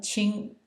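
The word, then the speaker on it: 亲: the uh second tone and the chi uh Ching is uh written like this and is pronounced Q like a CH hard CH ching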